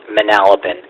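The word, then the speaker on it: Manalapan: The last go round you uh your pronunciation was on. It's Manalopin.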